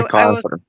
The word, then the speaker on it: MacArthur: Yeah, MAC, not MC. So that's the mistake I was pronouncing. He's a preacher. Yeah, John MacArthur.